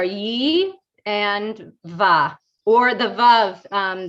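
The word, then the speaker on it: וָו: and va, or the vav. There's a tradition to say it as wow, that a vav is actually pronounced wow, the Masor, like an older tradition.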